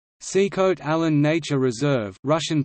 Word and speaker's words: Sikhote-Alin: Sikhote-Alin Nature Reserve, Russian pronunciation, Sxtl-in, English, Sikhote-Alin, is a biosphere reserve in Primorsky Krai.